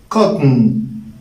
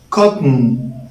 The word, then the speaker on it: cotton: word is pronounced as cotton cotton so take care again there is no sound between the t sound and the n sound so say it again